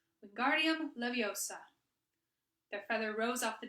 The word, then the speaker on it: Wingardium Leviosa: "Wingardium Leviosa!" he shouted, waving his long arm like a windmill. "You're saying it wrong," Harry heard Hermione snap. "It's Wingardium Leviosa. Make the guard nice and long."